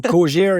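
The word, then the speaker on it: Cogir: So Cogier is a French name, so it's Cogier.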